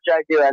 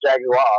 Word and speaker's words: Jaguar: It's actually pronounced Jaguar, not Jaguar.